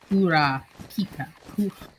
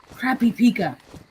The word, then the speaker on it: Kurapika: Like, I know most of the basic, like, the katakana and Kura Pika. Kurapika. Yeah. Crappy Pika. Gotcha. No, sorry. I intentionally mispronounced.